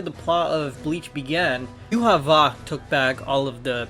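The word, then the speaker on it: Yhwach: I'm gonna put it up on the screen, but you know, the way the Japanese was pronounced based off of their characters is Yuha Va, so I'm going to pronounce it that way.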